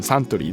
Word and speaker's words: Suntory: Yeah, Suntory です。日本のね、ビバレッジメーカーのサントリーですね。But yeah, this is really like Japanese pronunciation. Suntory, that's perfect.